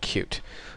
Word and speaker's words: Qt: be covering it's called cute it's spelled QT but it's pronounced cute and when you search